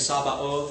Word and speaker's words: Sabaoth: It looks like they misspelled it and they put an O in there, and it's Sabaoth.